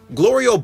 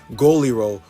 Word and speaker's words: Glorio: Glorio buys the bug, and meanwhile Goku's mispronouncing his name Goliro while I call him Glory Hole.